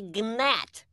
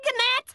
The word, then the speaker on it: gnat: me you are a gnat it's a g silent it's not are you calling me a ganette no just correcting your